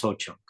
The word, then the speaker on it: Ho-Chunk: Complex kinship of the Ho-Chunk Nation is illuminated by over 90 terms of address for male kinship in Ho-Chunk, Ho-Chak. I don't know what that word is, but It's pronounced Ho Chunk. Ho-Chunk.